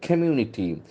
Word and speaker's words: community: got a clear curb community community is very interesting world communities it's a hard sort of see community community community backs and falls on the second syllable Community scientific is helping